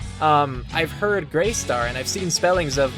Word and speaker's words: Grestar: if it's from anything but I've always said gret star so that's how I pronounce it if you don't mean that name